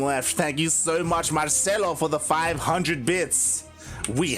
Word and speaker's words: Marcelo: Oh yeah, he was talking about how like you pronounce it as like a H instead of an R. Yeah. Marcelo. God. Marcelo.